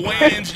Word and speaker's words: Wayans: Nah, it's Wayans. Look ahead. I'm so sorry. Oh, you mispronounced it is what she said.